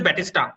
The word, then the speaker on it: Battiston: It's pronounced as Batista. Yeah. The N is silent.